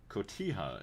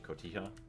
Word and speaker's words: Cotija: Cotija is how I think it's pronounced. Let me look it up. That sounds about right. Usually the J is an H. Cotija.